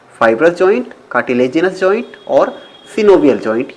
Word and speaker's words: synovial: कुछ लोग सिनोवियल joint को साइनोवियल जॉइंट भी पढ़ते हैं। वैसे जो करेक्ट प्रोनाउंसिएशन है दोस्तों वो सिनोवियल ही है। लेकिन अगर आप साइनोवियल पढ़ लेते हैं तो इसमें आपको कोई प्रॉब्लम नहीं होने वाली है। दोनों ही एक्सेप्टेबल हैं।